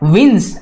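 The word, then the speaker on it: wins: है इस वर्ड में, विंस में। तो इसको कैसे प्रोनाउंस करेंगे आप, विंस, एन जेड। एन एस नहीं प्रोनाउंस करना है, तो आपको यहाँ पे बज करना है, हिस नहीं करना है।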